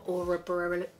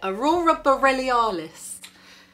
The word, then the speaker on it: aurora borealis: And a lot of people also say it resembles the aura borealis. How do you say it? Aurora borealis. Aurora borealis.